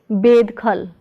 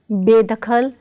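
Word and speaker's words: ਬੇਦਖ਼ਲ: So Be plus Dakhal is बेदखल, not bedkhal, but बेदखल, बेदखल.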